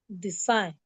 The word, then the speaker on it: design: The G. So when you are pronounced, don't try and say G or don't say the G because it's silent. So you Okay. read the words, please. Sign. Yes. Design.